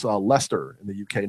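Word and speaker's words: Leicester: the Chang's corrected us it is pronounced Lester so Robert you were correct it's a Lester in the UK not least her I don't care what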